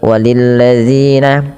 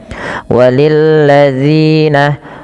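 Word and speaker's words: والذين: Pada lafal walilladzina hati-hati dalam lafal dalilladzi ya. Ini kita harus hati-hati diulang-ulang terus bagaimana cara membacanya yaitu ujung lidahnya nempel dengan gigi atas ya. Walilladzina walilladzina kafaru birabbihim.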